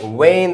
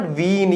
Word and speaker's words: vein: उसके बाद वेन, this not वीन, ये वीन नहीं होता, ये वेन होता है।